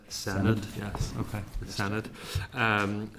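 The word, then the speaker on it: Senedd: renumeration board of the I keep pronouncing this wrong. This isn't the Shannid, this is the Senate.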